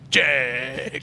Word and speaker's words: Jegs: Just so you know, Miles, whenever you say Jegs, you got to say it like this. You got to go, Jegs. Jegs.